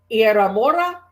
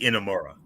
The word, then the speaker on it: Inamura: Nathan Frazier and Axiom goes up against Josh Briggs and I guess it's Yosuke Iramora. If I pronounced their name wrong, I apologize. No. What? Yoshiki Inamura.